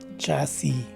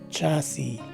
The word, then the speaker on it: chassis: end of the word is a silent letter so the right way to say this word is chassis again chassis so there you